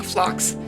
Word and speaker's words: Phlox: Her flower she's based off of is called Creeping Phlox. So Flo is spelled P-H-L-O.